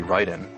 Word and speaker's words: Raiden: They would always say Ryu, because that's the way it would be pronounced. One that's a big problem is actually Raiden.